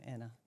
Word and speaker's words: Anne: Oh, it's spelled Anne, but it's Danish, so Anna.